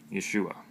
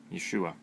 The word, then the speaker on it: Yeshua: His name is Yeshua, I believe, because it means salvation.